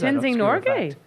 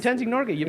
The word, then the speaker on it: Tenzing Norgay: There's Tenzing Norgay. No, is that the wrong person I'm thinking? Yeah, that's how you pronounce it. That's his name, Tenzing Norgay.